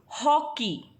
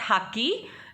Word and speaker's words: हॉकी: Next, हॉकी, इट इज़ नॉट हाकी, इट इज़ हॉकी, ह ओ, हॉकी।